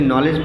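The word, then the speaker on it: knowledge: जैसे नॉलेज पढ़ते हैं तो के साइलेंट होता है, शुड पढ़ते हैं तो यल साइलेंट होता है, नाइफ पढ़ते हैं तो के साइलेंट होता है।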